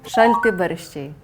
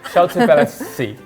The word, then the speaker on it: Šalti barščiai: Can you pronounce that name again? Šalti barščiai. Still can't get it. Šalti barščiai. Šalti barščiai. Almost there. Šalti barščiai.